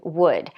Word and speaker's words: would: already should could would so there's no L pronounced at all this vowel u sounds like u so we have should could would just forget about the L we don't pronounce it at all and I have a